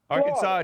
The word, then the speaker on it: Arkansas: I'll consult South Carolina Arkansas doesn't have an s-sound at the end of it just correcting hey I